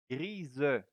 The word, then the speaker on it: grise: Gray, gris, masculin, and grise, féminin. Because the S here is between two vowels, so it will sound like a Z.